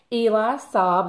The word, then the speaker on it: Eli Saab: read it without glasses on so this is eli saab that is how you pronounce his name les parfum and this is